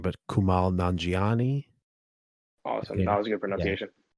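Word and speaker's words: Kumail Nanjiani: I'm gonna nice, mispronounce the name, but Kumal Nanjiani.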